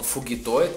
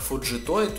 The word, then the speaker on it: Фуджитоид: Конечно же, найдутся желающие исправить меня и сказать, что он фугитоид, как перевели в дубляже русскоязычном сериала 2012 года, но я привык произносить этого парня как фуджитоид, уже много комментариев было на этот счет, и если вам удобно называть его фугитоид, то на здоровье, друзья, называйте его фугитоидом. Я не собираюсь доказывать правоту своего произношения. Мне нравится фуджитоид, я буду называть его фуджитоидом.